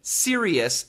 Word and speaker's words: serious: The first word again, serious. S E R I O U S. Three syllables. Serious. Serious. The tongue touches nothing.